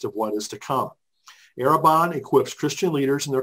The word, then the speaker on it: Arrabon: us is David M Bailey executive director of araban which is spelled a r r a o n the word arabon means a foretaste of what is to come arabon equips Christian leaders in their communities with the